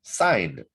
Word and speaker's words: sine: And to find theta, you need to undo sine. And by the way, that's not sin, it's pronounced. The full proper word is sine. And that's how we pronounce it. Make sure you don't say sin.